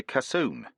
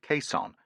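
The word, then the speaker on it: caisson: This cylinder is called a cassoon. He didn't pronounce it queson, and it will sink easily under its own weight.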